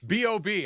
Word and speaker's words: B.o.B: I just feel, I feel like there's a lot should of take you to Bobby Bruno's going on. Mars. B.O.B. I've been corrected that it's B.O.B. and not Bob.